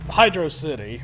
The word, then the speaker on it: Hydro City: Hydro City, or Hydrocity, depending on if you pronounce it that way.